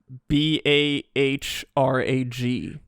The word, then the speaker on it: Balrog: They used like the English, the American pronunciation guide. So like, are you on the Balrog wiki? It's BAHRAG.